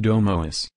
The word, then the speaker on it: domus: The classical Latin pronunciation sounds like domus.